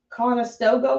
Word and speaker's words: Conestoga: Conestoga wagon?